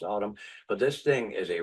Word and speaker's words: ATUM: It's called Autumn. It's ATUM is how it's spelled. It's pronounced Autumn.